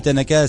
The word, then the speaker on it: Thannaka: Et Tanaka, ça s'écrit pas comme ça se prononce, ça s'écrit th A2N K.